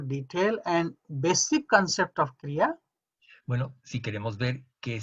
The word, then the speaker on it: Kriya: concepto en más detalle, There are two syllables in this word, la palabra Kriya tiene dos sílabas, Kri and Ya. Kri y Ya.